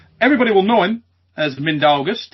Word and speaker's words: Mindaugas: So it should be pronounced Mindaugas. The surname is normally pronounced well, except I don't like how people say it Mindaugas. It sounds a bit weird in Lithuanian. So more pressure on the letter N.